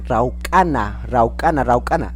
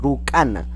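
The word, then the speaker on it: rawkana: Y los dedos se dice raucana, ¿no? Dedos, raucana, ¿no? Algunos dicen rucana o rucana, ¿ya?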